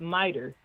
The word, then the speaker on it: MITRE: and it's called, and it's spelled Mitri, but they call it MITRE.